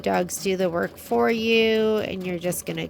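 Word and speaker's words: Ewe: the company is called You and Me, and You is spelled like a sheep, E-W-E, You and Me.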